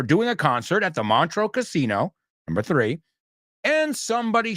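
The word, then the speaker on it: Montreux: you this what about montro Casino does that one ring a bell mantro Casino montro I think it's pronounced it is in Switzerland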